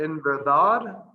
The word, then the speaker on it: verdad: So I would put an accent on the last A in verdad.